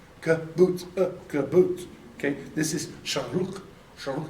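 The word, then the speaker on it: שׁוּרֶק: But when you see the vav with that one, you pronounce u, so it's the long u sound.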